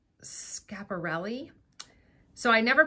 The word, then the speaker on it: Schiaparelli: And the brand is, and I want to say it right, Schiaparelli. So I never pronounced it like that. I always said Schiaparelli or Schiaparelli, but I just looked it up on YouTube.